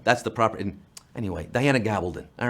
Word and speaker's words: Gabaldon: time or drums of autumn we ignorant Americans pronounce it Gabaldon Gabaldon gobble don't in Spain it's gavel bone that's the property anyway Diana Gabaldon all right you know where she's just cheering